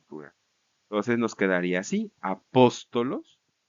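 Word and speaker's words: ἀπόστολος: dativo y acusativo plural el acento se va a cambiar a la penúltima sílaba Sí y va entonces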